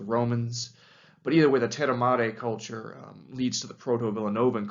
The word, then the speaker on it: Terramare: And that group of people was called the Terramare or Terramare culture, if you're going to pronounce it the Italian way.